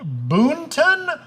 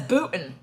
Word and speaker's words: Boonton: Ooh, that is the age-old question, because everyone who's from it says Booton. Booton, but it's spelled Boonton. But ask a local native and they'll just speed through it. They'll say Booton.